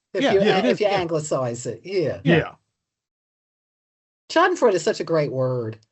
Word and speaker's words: Schadenfreude: I think it is pronounced Schadenfreude. Correct. Very good. And I guess we usually hear people say Schadenfreude, which I think is fine as an American. Apologies to German speakers, but it's fine.